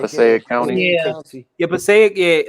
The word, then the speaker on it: Passaic: Yo, I always pronounce it wrong. Passaic County. Yeah. Yeah, Passaic.